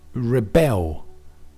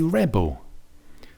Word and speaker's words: rebel: But for the noun, we say rebel. So the stress here is bigger on the re, the first syllable, for the noun.